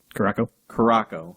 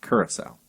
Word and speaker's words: Curaçao: Curaçao. Yep. I've also heard it called blue curacao. What? Yeah. Where's the L come from?